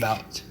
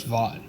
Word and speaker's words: Vought: Why are you saying like- Vault? You know it's Vought, right? Vault? Wait, how do you say it? Vault? It's Vought.